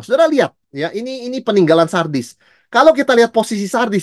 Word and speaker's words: Sardis: Itu gereja yang keempat dan masuk gereja yang kelima, wah, kita masuk gereja Sardis. Kalau kita salah baca, bacanya sadis saudara sekalian ya, tapi memang isinya agak-agak sadis juga begitu ya.